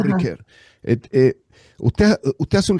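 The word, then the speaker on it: Ricœur: Uno puede decir eh de acuerdo al idioma que uno habla tiene que pronunciarlo. Paul Ricker. Yo quiero estar en París y digo Paul Riquer.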